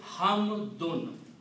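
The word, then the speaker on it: حمدٌ: They are called dhammatan, and they have the sound of noon. So the word is hamdun.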